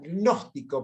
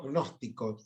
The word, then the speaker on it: gnóstico: Se pronuncia gnóstico, porque viste que está la G ahí metida, así que centro gnóstico.